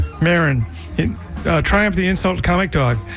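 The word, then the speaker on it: Maron: Marin. Marin Triumph the Insult Comic Dog.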